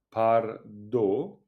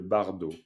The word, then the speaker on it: bardo: Le par à par, si vous le prononcez à la tibétaine pour dire pardo, ça vous dit quelque chose, pardo? Le bardo? Absolument. À la française, c'est le bardo.